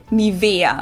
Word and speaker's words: Nivea: This is on the E. Nivea.